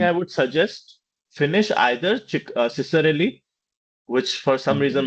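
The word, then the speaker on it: Ciccarelli: would suggest finish either Ciserelli which for some reason my Fred said friend said key is pronounced Chikarelli okay yeah Chikarelli or Morgan and King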